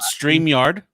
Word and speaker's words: StreamYard: Yeah, called StreamYard. Stream that likes to be pronounced like vineyard, so it's StreamYard.